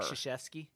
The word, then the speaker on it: Krzyzewski: Krzyzewski. Yeah, it's like That's crazy, right? right? So anyway, it's spelled Foltynewicz.